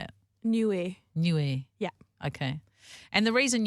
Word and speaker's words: Niue: you so anyway you've just come back from new way and I feel like even me saying that name I don't pronounce it correctly how do you say it newer new air yeah okay and the reason you know how